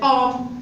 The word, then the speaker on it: homme: Et hôtel, homme, on dit un homme, homme. Qu'est-ce que c'est que je peux H, mais ne prononce pas.